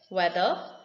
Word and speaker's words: whether: rules ted states that the letter h if it comes after the letter w it is silent for example y where whether where here the letter